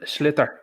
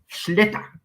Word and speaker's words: sliotar: Ninja Knight, do the proper pronunciation because I'm shit as well. But go on. It's come on and sliotar. Sliotar.